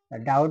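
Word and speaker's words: doubt: ও ইউ বি টি ডি ও ইউ টি হয়ে গেল এখানে উচ্চারণ কি হবে ডা উড দেখো উচ্চারণ কি আসছে বি এর উচ্চারণটা ডাউট মানে কি সন্দেহ নেক্সট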